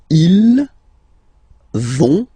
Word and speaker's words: ils vont: you don't pronounce it, so ils vont, final T, not pronounced.